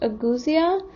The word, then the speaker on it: ageusia: scientific term for the loss of taste is pronounced agusia and while not every covid-19 patient experiences loss